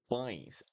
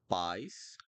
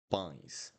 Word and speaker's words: pães: And then we have pães, pães, pães. It's not pies, pies. Pies would be without a nasal sound, so it'll be pães, pães.